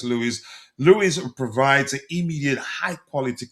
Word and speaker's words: Luiz: I think it's pronounced Douglas Lewis.